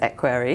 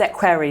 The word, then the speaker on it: equerry: Yes, he was the king's equerry. Yes. It's equerry, not equerry, apparently.